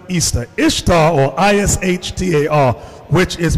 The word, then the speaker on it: Ishtar: See the word Ishtar or Easter, which is pronounced Easter.